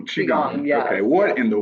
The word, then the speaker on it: Qigong: You do some Tai Chi and some Pilates, and then something, I'm not sure if I'm going to pronounce this right, Qigong? Am I saying that right? Qigong, yes.